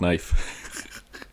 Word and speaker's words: knife: cuz like you know the letter K and knife you don't pronounce it it's silent in my gun the